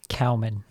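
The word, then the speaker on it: Kaoimhín: kelleher and kawahamine in i think it's pronounced cowman yeah or yeah they're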